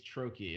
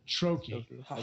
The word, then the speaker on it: Troche: Is it Troche? It's Troche is how you pronounce it. Troche.